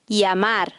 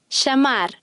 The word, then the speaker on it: llamar: Llamar. Llorar. In parts of South America, the eye is pronounced with a J sound. Here are the same words pronounced South American style. Llamar.